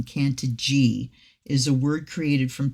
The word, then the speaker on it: Cantigee: what is Kant and then they have the pronunciation can G is a word created from two Roots cantis